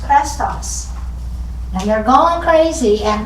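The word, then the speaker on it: Chrestus: Rome and it's about someone named which is pronounced crestos and they're going crazy and cresas means is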